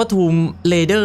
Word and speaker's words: Tomb Raider: ท rer rer ตลอด จริง ๆ มัน อ่าน ว่า ทม rer นะ ฮะ โอ้โห อ่าน ผิด มา